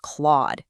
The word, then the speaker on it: Clawd: The token is pronounced clawed, rhyming with sharp nails, exactly like an animal that just clawed something.